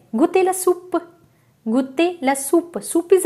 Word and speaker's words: soupe: I hope you understood that whenever O-U is coming together, it gives a sound oo.